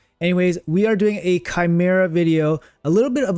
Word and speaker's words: Chimera: to try my best not to say shimera and instead say Chimera because that is the proper pronunciation of it however I have shamera fused into my brain